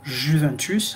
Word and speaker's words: Juventus: Alors, le i, c'est-à-dire le i, le j, ça se prononce avec un i lent, hein, qui est lent. C'est-à-dire, par exemple, le club de Juventus. Vous allez le lire comment? Juventus. En italien, on dit Juventus.